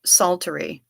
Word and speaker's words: psaltery: No, I played a bowed psaltery, and that's spelled with a P. Psaltery.